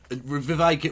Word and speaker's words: Vivek: hitter is he yeah Viv rashami VI get rhymes with cake that no one had